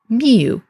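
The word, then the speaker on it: miw: is spelled with this sign because we would pronounce it in modern times miu, and it's M-yod-wow, or M-I-W, with the either cat determinative or a tail of an animal determinative.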